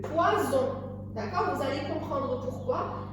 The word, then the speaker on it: poison: Par contre, si on avait mis un seul S, on l'aurait lu poison.